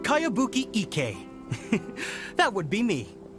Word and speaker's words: Kayabuki: new one i've never heard of it by cowabunga icky your mia this is a really strange name who's this cowabunga it's pronounced kayabuki ek that would be me outlander brigade is